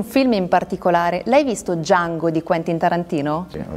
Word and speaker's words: Django: Django. Sai come si scrive? D-J-A-N-G-O. La D è muta.